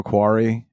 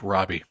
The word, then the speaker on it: Robbie: them and it's a quirky comedy starring Margo quari and uh Pedro pescal it's pronounced Robbie Robbie quar Pedro pescal Matt Damon has a cameo